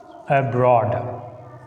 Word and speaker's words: abroad: b, and these prefixes, if a word begin with a prefix like this one, a, and, in, d, re, x, b, take stress on the second syllable.